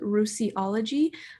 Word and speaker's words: Ruisiology: All right, so I have a YouTube account called Ruisiology. It's just my name plus ology at the end, kind of like psychology or whatever.